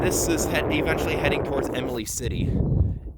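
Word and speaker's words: Imlay City: is eventually heading towards Emily City Emily City that's how you pronounce it but yeah I guess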